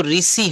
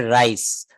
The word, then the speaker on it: rice: Miss না কিন্তু মাইস, RICE, এটা কিন্তু রিসি হবে না, এটা হবে রাইস, রাইস, ওয়াইজ, সাইজ।